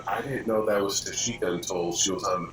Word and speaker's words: Tashika: Tashika.